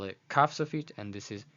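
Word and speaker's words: כף סופית: This is kaf sofit, so it's pronounced as k, k, k, and this is chaf sofit, pronounced as ch, ch.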